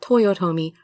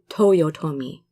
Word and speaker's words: Toyotomi: That's how those vowels are always pronounced every time you see them.